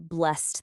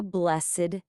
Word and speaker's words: blessed: As a verb, it follows our one syllable rule. God blessed them. But as an adjective, it breaks the rule and uses two syllables. Have a blessed day.